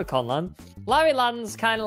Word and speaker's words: Conland: So it's Conland spelled with a K, but really it's just Conland, like, you know, we're conning people, you know what I mean?